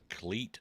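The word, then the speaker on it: Clete: Cleat Blakeman. I've always seen this guy, but never knew his name was Cleat. Right. I mean, it's fitting. Football players wear cleats.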